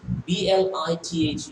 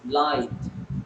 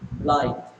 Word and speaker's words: blithe: So you see, dear students, the meaning of it's called blithe. See, the pronunciation is also given here. Blithe is called is pronounced as blithe, blithe, not blithe.